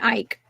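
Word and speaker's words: Icke: You know, because I I know I know I know that Icky did his Sorry, I got clown for mispronouncing that man's name. David Ike.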